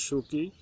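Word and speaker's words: Suu Kyi: The national league for democracy led बाय आंग सान सूकी, pronounce सूकी, वन the election, और जिसमें जो है नेशनल लीग डेमोक्रेसी पार्टी के नेता आंग सान सूकी जो है विजयी हुई।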